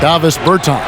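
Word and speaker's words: Dāvis Bertāns: Oh, well, now, at this point in my life, it's Davis Bertans. Is that how you say his name? Yeah. Davis Bertans.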